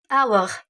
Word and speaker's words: hour: Par exemple, le mot hour. Hour. Hour. C'est l'heure. Ok? Hour, c'est l'heure. Et c'est le H n'est pas prononcé d'un hour.